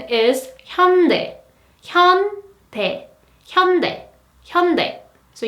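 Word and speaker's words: 현대: or a Hyundai but in Korean the correct pronunciation is Hyundai come pay Hyundai Hyundai so you might heard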